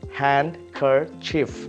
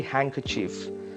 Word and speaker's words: handkerchief: next one would be hand car Chief now you cannot say like that it has to be handkerchief so duh has to